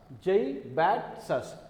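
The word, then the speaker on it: zaibatsu: and Jay bats us Jai bats us so if you have any problem with the pronunciation like J one syllable but another syllable that is easy Jai bats us so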